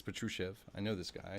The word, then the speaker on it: Patrushev: to nikolai plus sheriff uh patruchev sorry it's patrushev i know this guy